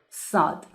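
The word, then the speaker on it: صاد: to dive in letter sod the seventh Persian letter is named sod s and it is pronounced s just like the letter seen remember it sounds s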